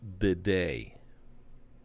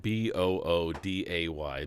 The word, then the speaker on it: bidet: Because I was spelling it boo-day, like B-O-O-D-A-Y, boo-day. But it's a bidet. Yeah, it's a bidet. Bidet.